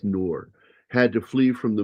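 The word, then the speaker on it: Ngor: For instance, actor Hanks Noor, I think is how that's pronounced. The G is silent. It's just Noor.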